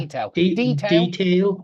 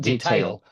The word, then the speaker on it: detail: Where you put the stress on detail? Detail, and not detail. Detail with a stress on the D.